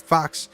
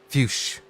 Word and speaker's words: Fuchs: the same way, and he pronounced it Fox. This guy pronounces it Fuchs.